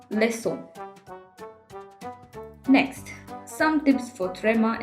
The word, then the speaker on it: leçon: in car, comme, cuisine.so, we use ‘c’ with cedilla in order to get the sound s. example garçon, leçon.